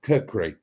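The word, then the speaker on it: khukuri: called that's right and or kri how however you pronounce it KH h u k r i I think it is uh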